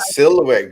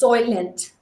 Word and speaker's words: Soylent: know I wouldn't know it's not silhouette green right no it's Soylent or Soylent like soy okay let me see